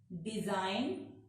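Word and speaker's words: design: अगर जी के बाद एन आता है तो जी साइलेंट हो जाता है। साइन, रिजाइन, डिजाइन, rain.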